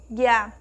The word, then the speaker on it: águia: palavra oi rosinha a nós temos o acento agudo que também a sílaba mais forte ele tem esse papel também de deixar a sílaba mais forte o nosso acento agudo que aqui só aquele risquinho então a vogal a na palavra águia recebe um sinal que indica o timbre aberto já na palavra menino